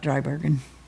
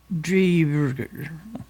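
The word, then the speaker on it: Driebergen: it's not Drybergen. To hear him pronounce it, it doesn't look like this Okay. when he says it. Drieberger.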